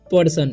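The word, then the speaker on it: person: ठीक इफ्लू acyl influential पर्सन इसे पढ़ते हैं पसन नहीं इसे पर्सन पढ़ते हैं ठीक पर्सन बहुत सारे स्टूडेंट इसे पेसन पढ़ लेते हैं तो पेसन नहीं पर्सन पढ़ना है फोर ए से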